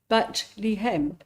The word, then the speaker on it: Bethlehem: The connect pronunciation is bat lem, which means house of bread, a reference to the fertility of the area.